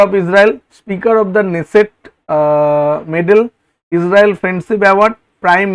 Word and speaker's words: Knesset: এখানে নেসেট বানানটা, পার্লামেন্টের নেসেট বানানটা একটু লক্ষ্য করবে, KNESSET, কিন্তু উচ্চারণ হয় নেসেট, ঠিক আছে।